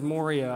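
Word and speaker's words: μωρία: Now, it would help to know that the basic Greek word is moria, and I want to say it like that just so you all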